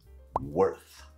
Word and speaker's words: worth: talk about the pronunciation it rhymes with Earth except it starts with that tricky sound W now the important thing